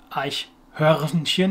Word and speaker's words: Eichhörnchen: Again, an umlaut sound, U. Two CH sounds and an R in there, but this is not really a same R.